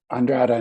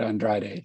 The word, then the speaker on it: Andrada: Andrada, not Andrade.